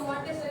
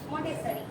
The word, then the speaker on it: Montessori: Montessori. It's not Montessori. Montessori. It's Montessori.